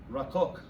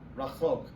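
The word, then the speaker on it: רָחוֹק: Rakok. Rakol. Rakok. It means far away. Rachok.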